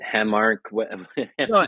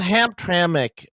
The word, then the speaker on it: Hamtramck: of uh I was I don't know how to pronounce it hamark it's Hamtramck yeah so I think there's